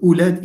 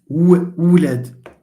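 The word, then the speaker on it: ولاد: Yeah, but the onset in the sense that, for example, it's not ulad, it's wulad.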